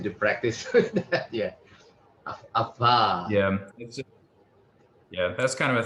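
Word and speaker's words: עָפָר: Afar. Afar. Var. Yes. I think you're wanting to pronounce the pe as a V sound, but it is pronounced as an F sound. So it's not avar, but afar.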